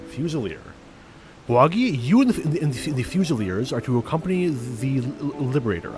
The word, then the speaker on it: fusilier: Stay tuned to the channel to learn more in British English. It's said as Fusilier. Fusilier. Fusilier. Bawagi, you and the Fusiliers are to accompany the Liberator.